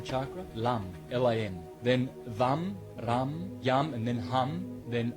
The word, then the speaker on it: Ram: R-A-M, Ram in Sanskrit. It's pronounced Ram.